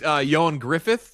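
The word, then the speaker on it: Ioan Gruffudd: Fantastic aka real name real name is Yan Griffith, how you pronounce it. But we've we have always we've talked about Yon Gruffid.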